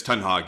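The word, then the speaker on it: Ten Hag: how do you say i always say i was messing up rag it's it's 10 hog you meant 10 hog oh okay because ryan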